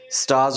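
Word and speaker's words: stars: स्टार्स का आर जो है ना उसको मैंने ग्रीन किया because we आर not suppose to pronouns are. क्यों? After are if there is consonant, are के बाद कंसोनेंट है, we don't pronounce it, स्टार्स हो जाएगा।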